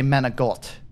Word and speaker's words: manicotti: instead of saying uh manakoti uh she would say menagolt like she would drop the I at the end and say it with a G uh just like um